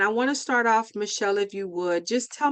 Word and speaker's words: Michelle: Yes, it's Michelle.